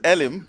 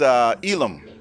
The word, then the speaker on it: Elim: Elim Church, and you told me a different pronunciation. Everybody says Elim, but it's Elam.